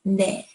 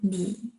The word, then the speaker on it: 니: So I wrote 네 because how it's written is supposed to be pronounced as 네. But you could say 네 or 니.